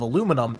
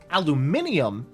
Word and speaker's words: aluminum: You see, Nano, aluminum does have two pronunciations, but only one of them is from the actual, like, discoverer of aluminum, and it's aluminum. Aluminium is actually the floppy